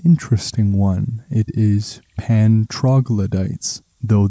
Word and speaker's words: troglodytes: It is pan troglodytes, though this pronunciation in Latin or Greek would be something closer to troglodutes.